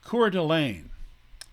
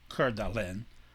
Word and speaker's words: Coeur d'Alene: Spokane tribe, and the Coeur d'Alene tribe, another French word, which actually would be pronounced in French Coeur d'Alene, but we'll say Coeur d'Alene.